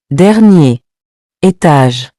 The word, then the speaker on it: dernier étage: So instead of saying dernier, étage, we connect and say dernier étage.